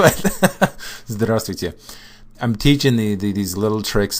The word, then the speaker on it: Здравствуйте: small, tiny little details, like rolling your D, right? And not saying D. See, it's hard for me to do it when I go to speak Russian. Zdravstvуй, I can't pronounce Russian properly if I do that. My mind is even rebelling at the thought because it's learned the correct way to pronounce the words. So I don't say zdravstvуй. I can't even do it.